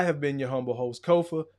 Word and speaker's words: Kofa: I have been your humble host, Kofa, K-O-F-A, not coffee, not kufu, not Kofi, or any variation thereof. Kofa rhymes with sofa. Easy to say, easy to spell.